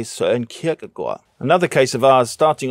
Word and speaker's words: Søren Kierkegaard: When talking Danish philosophers, Americans might say Søren Kierkegaard, but Danes say Søren Kierkegaard.